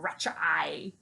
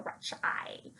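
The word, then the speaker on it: Radch: I am pronounced, it's weirdly pronounced in the audiobooks, like Ratch eye, Imperial Ratch eye.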